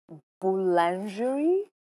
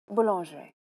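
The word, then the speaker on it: boulangerie: देख लीजिए, ये है आपका वर्ड बुलांजरी. नॉट बैड ना, इट्स फ्रेंच. या बुलांजरी. It sounds quite French में कुछ seductive. आड़ा तेड़ा ऐसे pronounce करो, it'll sound right.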